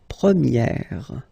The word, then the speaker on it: première: And then the sound will change quite much, because if you think about the masculine form, you pronounce it premier, okay? Premier. And then for the feminine form, you will get première, okay? So it's open, this sound. Première, premier, première.